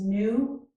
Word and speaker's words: gnu: In this word, we do not pronounce the letter G, so this is new.